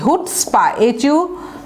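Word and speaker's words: chutzpah: এটা হচ্ছে হিব্রু একটা ওয়ার্ড, হ্যাঁ, উচ্চারণটা আমি লিখে দিচ্ছি, হুটস্পা, HUT, হুট স্পা, SPAH, অর্থাৎ CH আছে অথচ উচ্চারণটা হবে হুটস্পা। তাহলে excessive arrogance, self conceit, excessive নিজের যে বড়াই সেটাকে বলা হয় হুটস্পা।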